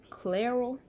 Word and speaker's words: Clairol: this actually this is how you say this clairol claire room the the other box that i